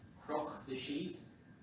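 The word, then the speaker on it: Cnoc na Sí: It's pronounced Croch na She, and spelling would be Knoch na She.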